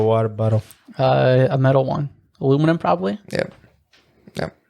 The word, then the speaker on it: aluminium: A metal one, aluminum probably. Yep. Yep. Aluminium?